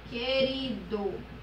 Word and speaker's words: querido: eu só serão dígrafos quando a letra u não for pronunciada como nas palavras aluguel e querido aluguel oi querido e aí eu percebo